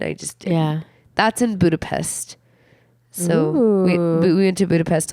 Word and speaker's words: Budapest: Bridge it is Budapest you know it's actually pronounced Budapest the capital of Hungary not to be confused